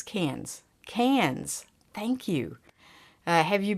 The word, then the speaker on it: Cairns: Heading off on Tuesday to Cairns? Carnes? Say it like this. Cans.